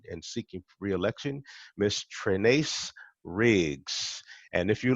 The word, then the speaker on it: Trenace: n a c e just think ace trinice ah okay that's easy